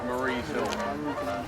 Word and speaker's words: Marye's Hill: Marie's Hill is spelled like Mary with an E on the end. Marie's Hill.